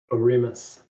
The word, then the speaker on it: Oremus: will how do you say your last name oremus a remus okay that's what i thought andrew how do